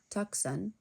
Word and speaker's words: Tucson: In Tucson, which looks like Tucson, he met two troublesome twin toucans.